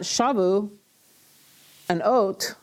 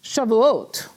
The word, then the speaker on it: Shavuot: weeks right you have it's not shabu and oat it's trouble oat okay there's a syllable break in there Shalu a note but it's all one word and I think you've